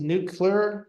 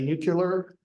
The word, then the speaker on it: nuclear: Most of the world says nuclear, 2 syllables. Down here, we say nuclear with 3 syllables, or I do.